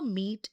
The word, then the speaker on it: meat: Watch out for meat and great and threat. They rhyme with sweet and straight and debt.